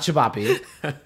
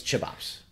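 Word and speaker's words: ćevapi: Or as Kian people mispronounce it, called it chibapi. It's not chibapi. It's chibops.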